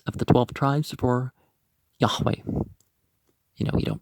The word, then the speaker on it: Yahweh: of the presence of the 12 tribes for yahweh you know you don't pronounce the j is a j you say